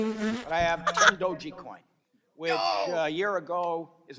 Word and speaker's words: Dogecoin: how you say it, but I have 10 Dogecoin, which a year ago, is it Dogecoin or Dogecoin? Dogecoin. Bruh. All right, I have 10 Dogecoins, all right? A year ago, 10 Dogecoins, for sake of argument, was worth $1,000, so